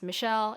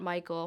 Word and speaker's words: Michelle: each other and it's how to pronounce my middle name it's not my last name but it's Michelle it's not Michael Michael is my idiot